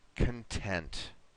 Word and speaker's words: content: it's going to be I would be content it's very important that we put this stress at the end here one more time for